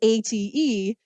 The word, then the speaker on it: ate: her older cousin Bernadette it looks like it's eighth right it's both a t e and I know that would be an issue